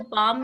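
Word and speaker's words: palm: understand it first तो पाम में L silent है सेम लाइक दिस लिसन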